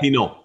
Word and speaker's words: Pineault: That's how he told me to remember his name, because it's spelled Pineault. You're right, it's Pinot, like Pinot Noir.